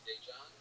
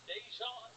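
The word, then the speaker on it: Daegen: His name is spelled D-A-E, which is day, and then it's G-E-N.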